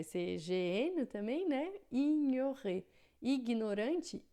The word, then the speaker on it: ignorant: Ignorante, ignorant, né? Então, quando a gente tem o GN em francês, a gente vai ter som de nh, como se fosse o nosso NH em português, tá?